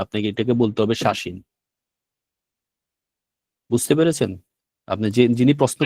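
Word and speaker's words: 写真: আচ্ছা, যেমন ধরেন আপনি যদি শাসিন লেখেন, যেমন ধরেন আপনি যখন শাসিন লিখলেন, ঠিক আছে, এই শব্দটা কিন্তু আপনি শিয়াসিন বলতে পারবেন না, আপনাকে এটাকে বলতে হবে শাসিন।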